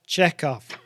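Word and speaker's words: Chekov: Um, so Walter Kanig, it's it's pronounced check off.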